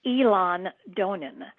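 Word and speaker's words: Eilean Donan: It's Dunvegan and then the other castle is Elon Donan. So, um, that's that's how it's pronounced. Elon Donan and Dunve Vegan.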